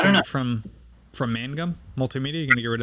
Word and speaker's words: Mangum: Well, it's not hard to pronounce. It's just people want to say Magnum, Yeah.